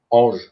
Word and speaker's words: Ange: Is it Ange? Ange. Ange. Okay. It's like an angel. It's an all in French.